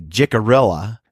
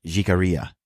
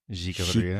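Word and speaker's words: Jicarilla: So if you're American, you say Jarella. Jarella. But if you're uh you say it right, is jigaria. Jikaria. Jikaria.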